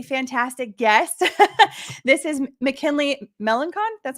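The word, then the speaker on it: Melançon: This is McKinley Melancon. That's how you pronounce it? Yeah, that's fine. Okay. It's Melassa, but McKinley is good.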